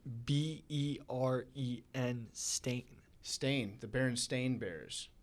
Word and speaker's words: Berenstain: stain right a-i-n it's b-e-r-e-n stain stain the berenstain bears it's not stein no no that's the mandela effect because you think it's s-t-e-i-n everyone thinks that and you think it's